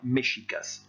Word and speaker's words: Mexicas: de la deuxième ligne se prononçait au XVIe siècle mexicas. Ce n'est pas la prononciation normale du X. Partout ailleurs en espagnol, vous ne prononcerez pas le X de cette manière-là, vous prononcerez X. Donc là, pour ce mot-là, concernant le Mexique, vous allez dire mexicas.